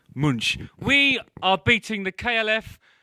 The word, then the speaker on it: Munch: to imperialism by removing monks the screams from its original framing and taking a shite all over it excuse me is pronounced munch we are beating the